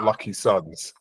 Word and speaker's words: LKYSUNZ: well um and I'm going to spill out lucky Suns it's easy enough for them to find you